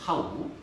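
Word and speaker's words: tau: 네, 읽을 때는 타우라고 발음합니다. 타우.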